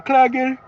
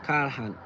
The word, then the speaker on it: Callahan: Do you speak Hindi, Ben Klagen? Karl and Han is how you pronounce. Callahan.